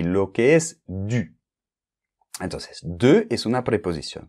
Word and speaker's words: du: después Lu pues hacemos du Okay Cuidado con la pronunciación u u u Okay haces la boca como una O y al mismo tiempo pronuncias una I Okay du DU Okay Vale pues ya